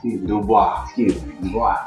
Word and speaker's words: Du Bois: Du Bois.